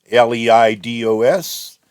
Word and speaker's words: Leidos: this is a service provided by Li lios I think I've been told that's supposed to be pronounced l d oos and uh so here's